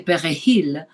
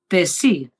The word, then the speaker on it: perejil: word, which is parsley, they couldn't say perejil, they said pesi, and there was a massacre around it.